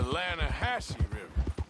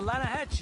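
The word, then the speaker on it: Lannahechee: rode down to the Lana Hetchy River I caught some beautiful steelhead trout you mean the Lana hash no no no the Lana hatch it runs right near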